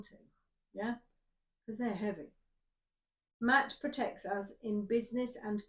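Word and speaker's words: Maat: About Matt, pronounced Matt. And I'm going, Mart, it's Matt.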